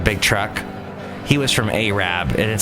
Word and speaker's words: Arab: Like, They have a town called, well, it's spelled like Arab, but they say Arab.